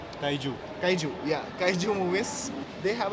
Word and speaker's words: kaiju: of Titans kind of movies, Godzilla, all the Kaiji movies. Did I pronounce it right? Kaiju, yeah, Kaiju movies, they have a pattern, okay,